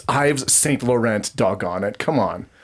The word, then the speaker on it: Yves Saint Laurent: They pronounce it like so wrong. It's Yves Saint Laurent, doggone it. Come on. It's not Yves Saint Laurent.